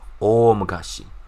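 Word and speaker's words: おおむかし: Okay, or if you want to say it like a really long time ago, o mukashi, o mukashi. Okay, so o elongation and then mukashi, right?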